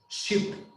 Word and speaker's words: ship: So we have, for example, sheep, sheep. If you notice, it's a long sound, sheep, sheep. But then we have also this one, ship, ship, ship.